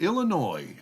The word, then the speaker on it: Illinois: Oh, and I still remember that Illinois does not have an S on the end of it uh when you're pronouncing it.